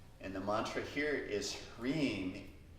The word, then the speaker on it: Hrim: And the mantra here is Hrim, H-R-I-M. Try saying it. Hrim, Hrim, Hrim. Yeah, it rhymes with clean.